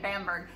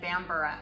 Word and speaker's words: Bamburgh: trying to Reserve and she said Bamburgh I'm like ooh note to self it's just like Edinburgh when it's a burg with an H I'm and don't say